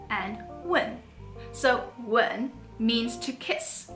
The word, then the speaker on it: 问: And that's the difference between wen and wen.